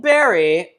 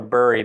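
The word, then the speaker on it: Burry: Um, the reason why I think this is interesting is because so Michael Bry for those people are Bur, but I think it's pronounced Barry.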